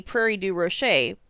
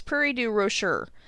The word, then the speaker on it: Prairie du Rocher: changed to mars sales in french the last letter typically doesn't get pronounced so this should be prairie du roches but illinoisans have decided that we have to go with saying the r so it's prairie du rocher i guess i should